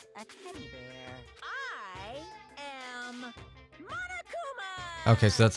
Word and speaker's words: Monokuma: I am Monokuma.